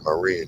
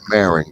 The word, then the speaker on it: Marin: go on the other side there you're in Marine County or Marin County as they call it but it's pronounced uh Marin and that's where finish Shakur